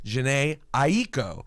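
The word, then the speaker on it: Jhené Aiko: introduce you how do you say it exactly Jan AO so I was like all right perfect go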